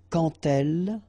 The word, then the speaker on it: quand: So like that, quand elle, all right, same rule here. Remember, when you will have this d, you will phonetically pronounce it like t.